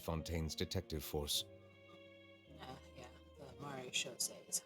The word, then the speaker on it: Maréchaussée: Yeah, the Maréchaussée is how they pronounce it.